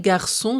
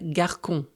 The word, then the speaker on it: garçon: La CD rappelle qu'on prononce C comme s devant A, o. Sans elle, garçon se prononcerait garcon.